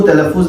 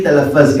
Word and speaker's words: تلفظ: میں نے بعض لوگوں کی گفتگویں سنی، تقریریں سنی، اردو صحیح نہیں پڑھ سکتے، تلفظ کو تلفظ نہیں تلفظ کہتے ہیں.